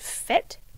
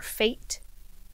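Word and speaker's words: Fête: her newest collection um this is called fet or fate fet f e t with an accent on the first e here show you um again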